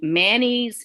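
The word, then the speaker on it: Mannes: was able to um i believe you say his name manny's m-a-n-n-e-s um well anyway he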